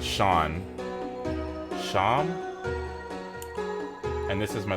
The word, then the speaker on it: Seam: The name's Seam, pronounced Sean.